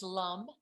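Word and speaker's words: lam: remember that by them they're all just am but they're pronounced like more like hum but it's it's l-a-m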